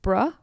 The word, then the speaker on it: Brough: her last name was Burrow but I think it's bruh is how you would pronounce it gotcha okay bruh so